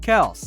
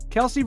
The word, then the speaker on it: Kelce: to tell you that it is actually pronounced Kel back in a 2021 podcast interview Kelsey revealed that everyone including NFL broadcasters fans and even his teammates had been mispronouncing his name in fact many of us often pronounce it as Kelsey but we as Outsiders